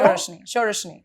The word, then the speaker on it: Sauraseni: Sauraseni.